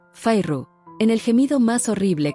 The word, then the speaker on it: Feyre: Soltó las dos sílabas de mi nombre Fairru, en el gemido más horrible que jamás había soportado.